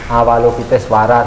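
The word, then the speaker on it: Avalokiteśvara: Wihara apalukitesw afalukit suara kalau bahasa umumnya dibaca awalukit suara berarti pakai bahasa sangketa ditulis V berarti bacanya W awalukit suara itu artinya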